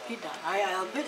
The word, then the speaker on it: albeit: Albeit or albeit? Albeit. Oh, and that's how you pronounce albeit. That means although. Albeit. What? Albeit. Albeit. How? Albeit is spelled A-L-B-E-I-T. Albeit. If you pronounce it with the spelling, or according to the spelling.